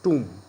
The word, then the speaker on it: tomb: The correct pronunciation of it is tomb.